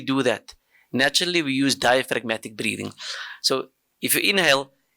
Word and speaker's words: diaphragmatic: There's a silent G in diaphragmatic, right?